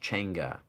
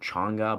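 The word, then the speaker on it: changa: It's said spelled ch h a um a n g a pronounced chenga. I for some reason I've always called it chonga, but it's pronounced chgaa and it's spelled ch h a n g-a.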